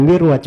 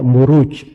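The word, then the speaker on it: مروج: kalau Dar Raj ruju itu bukan mirwaj bacanya harusnya marwaj sebab bukunya kan setelahnya wadin aljauhar itu kalau di bahasa Arab gak dibaca mirwaj tapi dibaca muruj jamak dari marjun maruju itu ada di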